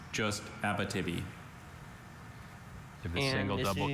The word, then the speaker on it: Abitibi: Is any alternate pronunciations? Just Abitibi.